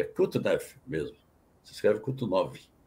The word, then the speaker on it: Kutuzov: Quando Napoleão Bonaparte invade a Rússia, o general Mikhail Kutuzov, você depois dá uma olhada aí para conferir esse sobrenome, é Kutuzov mesmo, se escreve Kutuzov.